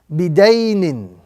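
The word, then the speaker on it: بِدَيْنٍ: So this word will be pronounced bidaynin.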